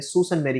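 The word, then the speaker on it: Sault Ste. Marie: 1965 में एक सॉल्ट सेंट मैरी, जिसको हम कैनेडियन प्रोनाउंसिएशन में सूसन मैरी कहते हैं, इन ओंटारियो ये यूनिवर्सिटी ओरिजिनेट हुई थी.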